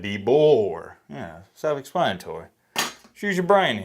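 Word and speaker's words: DeBoer: say the boy Deo it's not dbo none of that kayn dor there's an e there so it's like debor yeah self-explanatory choose your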